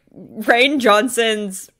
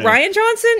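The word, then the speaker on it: Rian Johnson: is it Ryan Johnson is it Ryan Johnson or Rayne Johnson how the heck do you say his name I think it's Ryan it's just he's trying to be fancy with the way he spells it of course his parents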